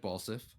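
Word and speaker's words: Balseph: to call him because every time they started to say his name i thought they were going to say ball sack but they said balsiff beat him um i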